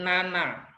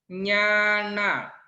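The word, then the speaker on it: ñāṇa: yang ada cacing-cacing nya ini bacanya bukan Nana ingat ya nih bacanya bukan Nana Tapi yang betul membacanya adalah Nyana membacanya yang betul adalah Nyana the yang dibawa yang dibawa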